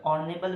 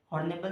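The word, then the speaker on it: honourable: H silent रहेगा, ठीक है। एच साइलेंट है तो ऑर्नेबल बनता है, हॉर्नेबल नहीं बनता, ऑर्नेबल बनता है।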